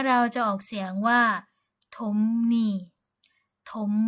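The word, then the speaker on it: 톱니: ภาษา เกาหลี เรา ก็ จะ ออก เสียง ว่า ถม นี่ ถม นี่ ก็ คือ ฟัน เลื่อย นั่น เอง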